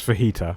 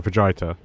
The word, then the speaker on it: fajita: probably soy or something I know it's fajita I know but I like saying vaget because it makes people feel awkward and jalapeno and chizo